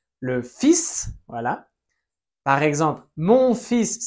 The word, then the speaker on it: fils: Normalement, on ne prononce pas la S finale en français, mais là on la prononce le fils.